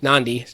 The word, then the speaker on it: Nadi: Nadi is how it's pronounced actually.